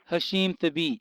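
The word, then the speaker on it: Hasheem Thabeet: Center Hashim how do you say itet theit Hashim theit yeah yes who is the currently the tallest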